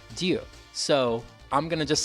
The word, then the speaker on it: Ryu: When I was doing some research, it looks like actually the closest way that I can pronounce his name to the way they would pronounce it in Japan would be Ryu.